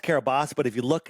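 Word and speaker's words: Kiribati: Now it's it's pronounced Kabos, but if you look it's spelled Carabati.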